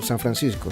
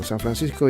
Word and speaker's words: San Francisco: For example, San Francisco. San Francisco is San Francisco. My name is Francisco. So you call it in that way. Try to pronounce it with the English accent but you call it in the Spanish version. You don't say San Francis, something like that. You don't Saint France.